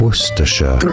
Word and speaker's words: Worcestershire: Worcestershire. Stress on the first syllable. Worcestershire. Yeah, only 3 syllable.